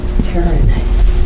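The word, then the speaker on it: Teran: Taryn. How do you spell that first name?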